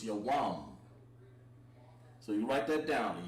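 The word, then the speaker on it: יום: And the way you say day in Hebrew is Yawam. So you write that down, Yawam. Yawam, like Kal Yawam, like all day.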